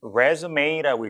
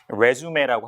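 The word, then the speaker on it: résumé: On your resume, 그러니까 resume라고 읽죠. 영어식으로는 resume라고 하지 않고, 자, 그래서 이력서에 이렇게 이제 썼다 이거죠.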